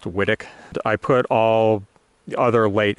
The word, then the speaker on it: Whitwick: So this is Whittick Pippin. It's spelled Whitwick, but Nigel Deacon says it's pronounced Whittick.